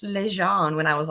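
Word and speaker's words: Ligon: my aunt was like it's not like gone it's Le Jean when I was like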